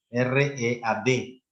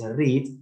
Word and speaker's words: read: Simplemente hay una pequeña variación en la pronunciación. En presente es read y en pasado se lee read.